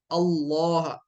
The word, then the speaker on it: अल्लाह: लाम जलाला का कायदा कि जब कभी आप लफ्ज अल्लाह से पहले जबर हो या पेश हो तो लाम को मोटा पढ़ेंगे इनल्लाह अल्लाह यानी के लाम को प्रोनाउंस करते वक्त होठों को गोल करेंगे अल्लाह इनल्लाह ठीक है लेकिन अगर लफ्ज अल्लाह से पहले जेर हो तो फिर लाम को बारीक पढ़ेंगे जैसे कि बिस्मिल्लाह में पढ़ा जाता है बिस्मिल्लाह ठीक